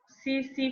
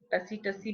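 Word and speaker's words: tsetse: जो ये this Trypanosoma है ना, ठीक है, this is transmitted by सीसी फ्लाई. टसी बोलते हैं सभी, सीसी फ्लाई है इसकी प्रोनाउंसिएशन, सीसी फ्लाई.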